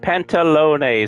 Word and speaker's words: Pantalone: Pantalone, so I was saying it right.